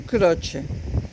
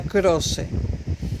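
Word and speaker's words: Croce: era Horacio era Nelson croche apellido de origen italiano en español se pronunciaría crose con c Nelson croc Nelson croche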